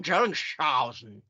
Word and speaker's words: Dellingshausen: You can go Dellingshausen, or you can turn the SH combo into a sh.